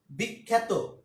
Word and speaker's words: বিখ্যাত: তো এরকম আমরা এর উচ্চারণ প্রচুর পাই। বিখ্যাত, জফলা, বিখ্যাত।